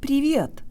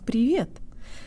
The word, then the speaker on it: привет: Use the Russian default mouth position and say the V with a hint of a Y sound in it.